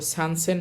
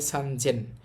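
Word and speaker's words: 三千: তো সানসেন হবে না। এটা হবে সানজেন।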